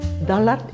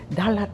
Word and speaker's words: Dalat: So my mother said, "Oh, why do we call it Dalat? Because everybody knows already pronounced Dallas. So if you say Dallas, it's very much like Dalat, like Dallas.